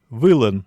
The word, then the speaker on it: вылын: В коми-зырянском ударение, как правило, падает на первый слог. Например, «вылын» наверху, по-удмуртски «вылын».